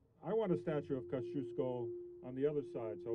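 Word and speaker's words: Kościuszko: pronounce and joe you i knew how to pronounce uh kosciuszko rather than koskiasko because i went to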